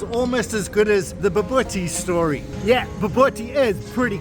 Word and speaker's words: Bobotie: Let's go have a laugh at people trying to pronounce Bobotie. Bobotie. God, I love to say that. Bobotie. Bubble tea. Bobotie. Babootie? Bobotie? This is Bobotie.